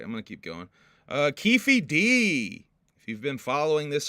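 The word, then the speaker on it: Keffe D: about this dude now um and it is Kefi D that is how it's pronounced uh so Kefi D or ke D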